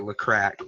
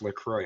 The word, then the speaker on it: LaCroix: right the water I caught I call it look cracked what is actually pronounced lacroix yeah yes he they sponsored him video in